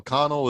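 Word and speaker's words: Conal: how colonel is spelled oh yeah am i mispronouncing this the whole time but no connell is just a weird irish name i guess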